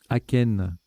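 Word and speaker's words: achaine: Aken, qui s'écrit A-C-H-A-I-N-E, donc c'est un A devant chêne, hein, c'est joli.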